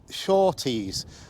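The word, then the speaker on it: Surtwes: i can't go down there and it's called shorties i'll spell it s-u-r-t-w-e-s street and i found that the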